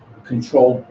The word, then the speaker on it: controlled: Similarly, but they, we're glottalizing, don't pay, controlled by. What happens to the d in controlled? Controlled by, it's gone.